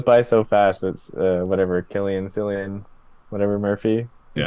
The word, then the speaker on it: Cillian: call him San before but his name is Killian because I've heard him say his own name